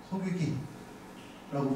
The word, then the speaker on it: 소고기: 두깨비 두깨비 이렇게 발음합니다 소고기를 세기기 소기기라고 발음합니다 사실 소고기 쇠고기는 이제